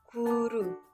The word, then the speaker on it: goero: dari ejaan Suandi adalah huruf oe menjadi u seperti penulisannya goero tapi dibacanya menjadi guru beberapa lainnya ada di